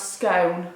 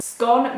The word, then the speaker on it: scone: How do you pronounce scone? Bone, phone, scone. Scone makes me want to throw up. It's literally scone.